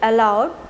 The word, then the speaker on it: aloud: But the next one, A-L-O-U-D, allowed, means loudly, with a great noise.